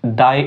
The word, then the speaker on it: the: একটি শব্দ অর্থাৎ এই দায় এই টি এইচ ই এটার পরে যে শব্দটি হবে ওই শব্দের প্রথম অক্ষরটি যদি কনসোনেন্ট হয় তখন আমরা এটাকে উচ্চারণ করব দা ফর এক্সাম্পল নেইম নেইম